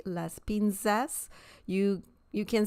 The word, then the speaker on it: las pinzas: z sound in Spanish is very similar to the S sound in English so you don't have to say Las pinzas you you can say it just like an S sound Las pinzas okay so that's an